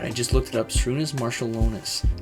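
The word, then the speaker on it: Šarūnas Marčiulionis: Shrunis Marshalonus is how you pronounce his name.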